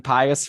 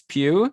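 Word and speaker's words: Pius: you can pronounce it pew suitor yeah i was saying pious forever which is more fun but it's pew yeah what a wild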